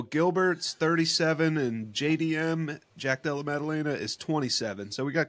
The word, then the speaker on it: Della Maddalena: I think I can pronounce this. Gilbert Burns. There we go. Yep. Against Jack Della Medallia. Sound it out. Jack Della Maddalena.